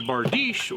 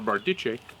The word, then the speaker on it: bardiche: same manuscript i have a bardeesh or bardiche as terrible english speakers will mispronounce everything i've got a shorter